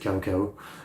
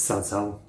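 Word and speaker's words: Cao Cao: I always said Koko, but it's Sat. Yeah. So I know how to say that now.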